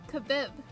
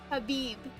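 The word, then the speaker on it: Khabib: The K is silent.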